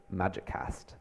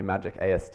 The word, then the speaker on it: Magic AST: library called Magic AST, where you can pronounce it Magiccast, which I was doing for a long time before realizing probably Magic AST is the more understandable version, but Magiccast is just so much more Harry Potter, right?